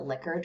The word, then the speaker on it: Likert: lick likert scale i i'm supposed to pronounce it licker but i just can't